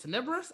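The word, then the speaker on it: Tenebrous: vobols we said bane already and is it tenibrus i've never pronounced that yes you're right um and then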